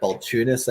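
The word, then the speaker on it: Balchunas: all these people but Eric balunis I think is how you pronounce it he's a senior ETF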